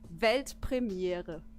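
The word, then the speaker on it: Weltpremiere: World premiere in German it's actually velt premiere yeah do it belt Premiere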